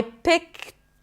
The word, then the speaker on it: picked: I picked up the T of pick. I picked up, and yeah, the D is pronounced as a T.